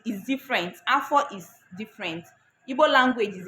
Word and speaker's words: afọ: Because Igbo language is a tonal language, you have to listen to the tones.